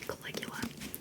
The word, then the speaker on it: Caligula: I feel like they have the same vibe, but Caligula, like a K.